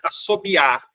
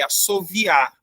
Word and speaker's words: assoviar: muita criança falar né assobiar aí eu já vi gente corrigindo não é assobiar é assoviar as duas formas são corretas assoviar com v e assobiar com B tá bom essa daqui é